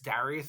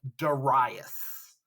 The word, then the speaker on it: Darius: it looks like Darius Darius is how you would say it like the Americanized version of the name but in ancient times you actually pronounce this name Darius so Darius is the